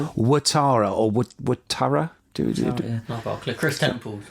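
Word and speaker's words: Ouattara: we're talking about Atara I keep on saying uatara but when you think about it we is spelled oui in French and that's we so watara or would Tara Chris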